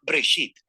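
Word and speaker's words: בראשית: génesis génesis primero y una palabra hebrea se pronuncia break sit simplemente significa principio hay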